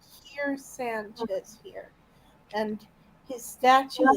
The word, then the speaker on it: Kier: It's spelled Keer. Kier, but doesn't matter either way.